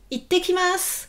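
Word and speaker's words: いってきます: » Vous dites « Itekimasu, itekimasu. » Donc, prononciation, prononciation. Vous retenez, il y a le petit sou pour dire itte. C'est pas ite, mais itekimasu.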